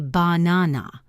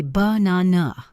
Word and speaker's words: banana: That first a is awah or the word banana. We don't say banana. We say banana.